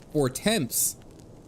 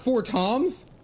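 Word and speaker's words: Fortemps: allies or her debts it's spelled for temps f o r t m PS for temps it's not for Toms oh it's all French never mind a that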